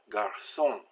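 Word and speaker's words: garçon: the S sound now sometimes you've got a sea with a sadya on it and that's pronounced I can ask also even when it's not followed by E I or Y so if you want to make an a/c pronounce like an acid it's not followed by the right word you put this idea little squiggle coming down from it so we have Garcon which is a boy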